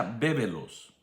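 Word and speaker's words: βέβηλος: Y es la palabra, se pronuncia bébelos.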